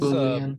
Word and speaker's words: Boolean: It's Boolean. Boolean. Yes. Boolean, yep, perfect. All right. Boolean's got two O's, and then bool. So basically, boo like boo, and then lean is how it's spelled, Lean.